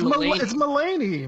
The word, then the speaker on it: Mulaney: John Mulaney er John Maloney how do you say his name its Mulaney Mulaney is meeting you he